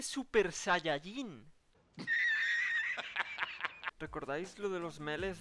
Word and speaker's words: Super Saiyajin: Que no se dice Super Saiyan. Que se dice Super Saiyajin.